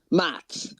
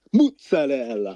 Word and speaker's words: mozzarella: saying like about puto and he says uh mats mats give me some mats. He's like that's not how you say it. It's mozzarella. And it's like the funniest like the funniest video I've ever seen. Mozzarella.